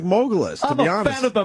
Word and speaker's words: Mogulus: Uh, it's spelled like mogul when you're a mogul. M O G L and then us mogul us.